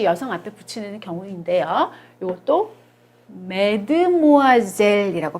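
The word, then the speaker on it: mademoiselle: 마드모아젤 또 역시 여성 한테 붙이는 경우인데요 요것도 맨트 모아 이제 라고 발음합니다 매드 뭐 하세 옷 역시 의 햇수로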